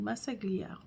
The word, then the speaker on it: Massaglia: Massaglia.